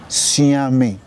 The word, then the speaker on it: Suame: one of such names is spelled s-u-a-m-e xiaomi that's different from s-o-a-m-e swami you know swami in